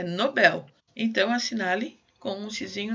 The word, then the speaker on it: Nobel: Nobel é uma palavra oxítona, tá? Em inglês eu acho que ela é Nobel, se eu não me engano. Mas em português ela é Nobel.